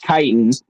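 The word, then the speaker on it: chitin: That's how he pronounced it. Kitan is but it's spelled C H I T I N.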